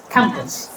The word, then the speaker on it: campus: So this word is it has two parts cam and puss. So out of two only one is spoken loudly. Which one? The first one. How do you say campus? Campus.